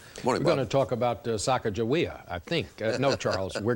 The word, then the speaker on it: Sacagawea: we've double checked and repeating as accurately as we can what we've been told the name is Sacagawea by the way we've also run into the pronunciation Sacagawea if you'd like to